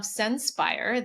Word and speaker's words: Senspire: He is the founder and president of of Sen He is the founder and president of Senspire, the company behind Flavor Studio, an operating system